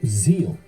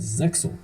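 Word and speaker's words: Zexal: Uh, Yu-Gi-Oh Zeal is the original Japanese pronunciation, but in the dub it is pronounced as Zeil, which is what I will call tomato tomato.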